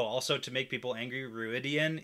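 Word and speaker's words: Rhuidean: Oh, also, to make people angry, Ruidian in the audiobooks is pronounced Ruidine. I say Ruidian.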